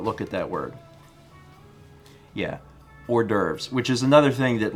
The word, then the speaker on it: hors d'oeuvres: divorce yeah it's pronounced worst divorce that's a French word you should be able to say without a problem but look at that word yeah hors d'oeuvres which is another thing